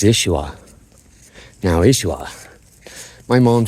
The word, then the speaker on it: Yeshua: When I heard a Hebrew say Yeshua, they don't even pronounce the Y, it's Yeshua.